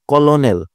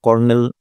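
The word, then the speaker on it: colonel: এনই এল তাই না এখন উচ্চারণ যদি করি কলোনেল যদিও ইংলিশেও এই কলোনেল বলা হয় না তারপরও আমরা উচ্চারণ যেহেতু দেখতেছি উচ্চারণ যদি করি কলোনেল তাহলে তো হচ্ছে না তাই না আমাদের দ্বারা দাড়াচ্ছে কয়টা ভাওয়েল? তিনটা ভাওয়েল। উত্তর দিব আমরা তিনটা হয়ে যাবে ভুল। আমরা কর্নেল উচ্চারণ করি কিভাবে? কর্নেল।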